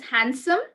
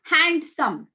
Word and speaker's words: handsome: goes silent you say That boy is handsome it's not handsome it's handsome d goes silent okay uh vday take